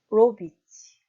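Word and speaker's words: robić: 예를 들면 하다 동사 로비치 동사를 발음하면 로의 강세가 있겠죠.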